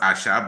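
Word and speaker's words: Aṣa: So it's pronounced asha but if it's asa and um she uh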